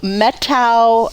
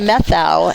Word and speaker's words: Methow: road again on the road we went to metto Valley Hope which I thought was methow until I Googled it and got the correct